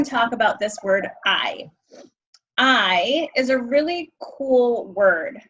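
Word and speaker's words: hay: like I said it's we don't pronounce H's in Spanish so it's pronounced I like I am and um we use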